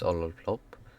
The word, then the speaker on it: Ololplop: My name is Ololplop. That's how you pronounce it. It's a Swedish pronunciation. It's not Ololplop or anything like that.